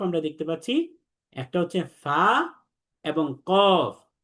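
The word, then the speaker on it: فاء: এরপরের যে দুইটা হরফ আমরা দেখতে পাচ্ছি, একটা হচ্ছে ফা এবং কফ। ফা হরফটি 1 আলিফ টেনে পড়তে হবে, উপরের দাঁতের আগাটা নিচের ঠোঁটের প্যাটের সাথে লাগবে।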